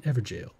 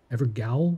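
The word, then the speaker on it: Evergaol: This is an Evergale. Evergowl? I call it an Evergale. Get over it.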